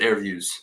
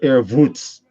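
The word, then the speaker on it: AirVuz: I pronounce it Airviews. I call it Airvoots. Because it's got the little thing above it. Yeah, because it has a little accent mark over it. So I add the voots like I'm Russian or something.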